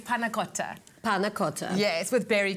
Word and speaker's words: panna cotta: Firstly, the dish is called, the correct pronunciation. Yes, is panna cotta.